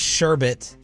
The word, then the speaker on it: sherbet: I'm telling like his sherbet. Sherbet is there is no second R in there.